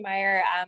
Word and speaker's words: Meyer: we're with mayer you pronounce it mayor meyer meyer meyer and you can introduce yourself sure thanks so hi my name is meyer i manage our campus